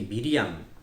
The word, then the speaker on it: 미리암: 맨 노려 와 비슷합니다 이렇게 미리암 이 미리암이 바로 마리아의 히브리 식 발음입니다 그러니까 미리암과 마리아가 같은